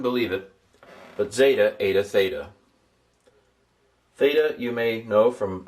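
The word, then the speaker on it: θῆτα: I couldn't believe it but zeta ada theta. Theta you may know from other places. First letter of the Greek word for theology god. I'm going to transliterate it as a th and pronounce it as a th.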